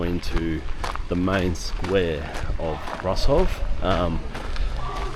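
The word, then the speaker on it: Brașov: So, we're coming down now into the main square of Russov. Um, the locals put a bit more of a twang on. It's like brushov or something like that. That how they say it.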